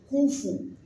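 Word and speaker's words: كُفُوًا: lis dans Hafs h donc koufou koufou one one tel que one en anglais one faut pas faire couou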